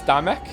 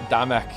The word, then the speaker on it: Damek: It's Damek. Damek like we're Scottish.